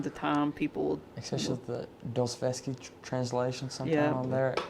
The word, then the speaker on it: Dostoevsky: So from time to time, people, especially the Dostoevsky translation, sometime on there, it's like foreign languages. Me and Ethan's read some Dostoevsky. Am I saying it right, Ethan? Dostoevsky.